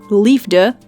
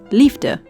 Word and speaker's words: liefde: kitchen C love Lea hear the difference not Lea but lifter Moon Man nose nose